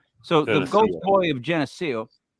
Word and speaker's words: Geneseo: my God that's good I don't want to mispronounce it because I I sound like an idiot what is it it's Geneseo yes I got the treasury right I get